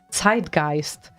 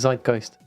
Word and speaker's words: zeitgeist: tell you as well it's site-geist design guys yes well we're speaking English so we would say is zeitgeist because that is how you pronounce the word in English no way yes way